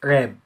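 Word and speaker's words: wrap: راب يعني يلف، الدبليو لما بيجي بعدها ار الدبليو ما بتنطقش، يبقى اسمها ايه؟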